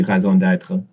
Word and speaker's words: raison d'être: In French, it would be raison d'être.